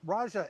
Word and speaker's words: Raja: well obviously congratulations um Raja am I pronouncing your name right with the soft J would like to get it right I'm assuming it's Raja all right great we are right Okay.